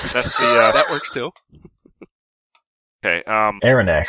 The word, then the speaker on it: Aronnax: Aronnax sounds like anthrax. Yeah, honestly. Okay, yeah. Okay. Rick Mell with the assist. Pierre Aronnax, a French he's a French professor.